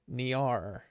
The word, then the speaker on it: NieR: So that's how it's pronounced. Okay, NieR. No.